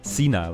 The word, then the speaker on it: senile: Is the E long and pronounced or not? Senile? Senile. Fuck! Fuck this language. Well, I probably didn't pronounce that right, but you can't win. Senile, okay, it's long. It's long E.